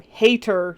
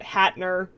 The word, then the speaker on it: Hater: Hater, not Hatner.